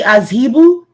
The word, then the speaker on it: Azhebu: Would it be Azhibu? Absolutely correct. You are absolutely correct. How do we spell that?